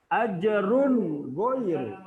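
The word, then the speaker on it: أجر غير: Dibacanya harus jelas. Jelas. Cara membacanya harus jelas. Ajrun ghairu. Tidak boleh membaca ajrun ghairu. Tidak boleh. Tidak boleh didengungkan. Ya. Bacanya tidak boleh didengungkan.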